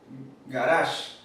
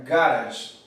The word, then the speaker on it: garage: después escuchar el del acento en el dialecto americano está en la segunda sílaba garage pero en la primera sería garage el acento solamente no